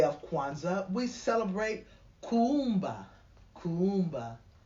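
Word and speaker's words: Kuumba: Kwanzaa we celebrate Kumba Kumba there's two U's in the middle of that k-u-u-m-b-a and hence the pronunciation means creativity we find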